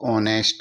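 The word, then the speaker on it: honest: रहा है तो यहां एच साइलेंट हो जाएगा इसको ऑनेस्ट ही उच्चारण करेंगे इसका उच्चारण ऑनेस्ट होगा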